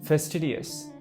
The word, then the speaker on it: fastidious: is one for you fastidious focus on the pronunciation first tedious for example he is